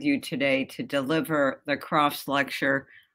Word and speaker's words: Crafts: today to deliver the croft's lecture which i would have pronounced crafts in uh my bronx accent but of course it is a croft's lecture nick croft's work on